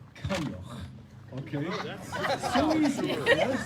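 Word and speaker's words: Coinneach: For those of you who don't know what my name is, or don't know how to pronounce it, I promise you, really easy. It's Kanyoch.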